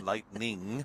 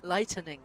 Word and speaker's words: lightening: threat of lightning but lightning lightening lightening yes there three syllables lightening yes not lightning lightening overhead which is good